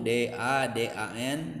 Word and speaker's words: Dadan: Satu kesatuan huruf itu D, A, D, A, N, dibacanya Dadan, dia punya makna, ngerujuknya ke saya.